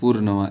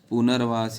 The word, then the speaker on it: पुनर्वास: तो पुनर्वास एक शब्द भी लिखा है कंफ्यूजन पूर्णवास इसको हम पढ़ेंगे कैसे पूर्ण पहले ये र का उच्चारण आधा होता है पहले किया जाए पूर्ण वास ये नहीं सही है पुनर्वास ये भी पुनर्वास ये